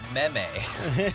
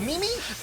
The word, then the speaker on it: meme: thing it's called a meme it's a mimi i mean i didn't know how to pronounce memes like when they when they because it doesn't make sense the way it's written when they first like